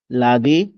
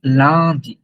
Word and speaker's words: lundi: লাদি, মেখদি, মেখদি। ফার্স্টে, আচ্ছা আচ্ছা। প্রথমটা একটু ই বলেন, লান্দি, লান্দি। হ্যাঁ হ্যাঁ, লাদি, মেখদি, মেখদি, রদি, ভথদি, সামদি, দিমস।